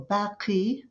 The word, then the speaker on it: Baki: a reference to God so Baki or Baki the Arabic pronunciation would be the Everlasting